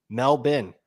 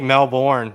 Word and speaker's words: Melbourne: you jents have any intel on the melbin melbin is how you pronounce it Melbourne cup my sister lived there for years uh really yeah yeah you think Melbourne nope the people in Australia pronounce it Melbourne